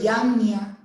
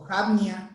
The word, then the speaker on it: Jamnia: inspirados, fue en el concilio de Yamnia o Jamnia, como ustedes quieran pronunciarlo.